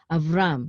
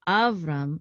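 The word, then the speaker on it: אַבְרָם: this the accident so of rum it's not Avram it's of rum because the cotton is right above this syllable right here this last syllable okay and because this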